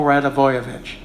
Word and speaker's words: Radivojevic: I was calling him Stojanovic and everything. And finally, the end of the period, I went back to them and I said, tell me again, how do you say this name? Branko Radivojevic.